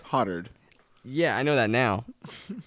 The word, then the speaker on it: Hotard: make your own assumptions h o t a r d hoetard right it's hottered yeah i know that